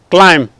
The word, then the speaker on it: climb: It is silent. Here also, climb.